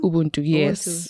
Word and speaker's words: Ubuntu: How do you say it? Ubuntu? Ubuntu, yes. Okay.